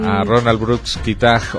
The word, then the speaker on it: Kitaj: Sí, hicimos referencia a un artista y a Ronald Brooks Kitaj o Kitai, mejor pronunciado, porque él era estadounidense, pero de origen húngaro y utilizaba el apellido,